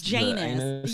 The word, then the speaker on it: Janus: Like Janice or like Janus? Janus. Yes. It's spelled anus with a J.